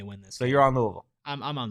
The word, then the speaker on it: Louisville: I'm gonna like mumble it a little bit and make it just one syllable. That's pretty much how you have to do it.